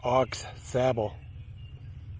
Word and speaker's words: Aux Sable: guys in a bit the locals pronounce this as ox sabal instead of ausable don't know why this is a great